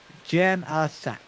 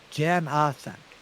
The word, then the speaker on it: Janasek: It is Steve Janasek. Janasek. Janasak. Okay.